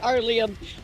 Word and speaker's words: Aurelia: Arlia, I almost said it right, Arlia.